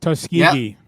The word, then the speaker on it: Tuskegee: Booker, if you went to Booker, and I'm going to butcher this, is Tuskegee, is that how you pronounce it? Yeah. Tuskegee.